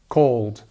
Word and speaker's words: called: So again, this uld, cooled, cold, called. You see how it works? Just practice it, uld, uld, uld, and then go back in the word, called, called.